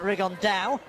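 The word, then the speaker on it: Rigondeaux: three weeks and he's Tate's talked about fighting rigondo or as he's correctly pronounced with the uh Spanish accent rig on Dao and look two absolute Geniuses but it could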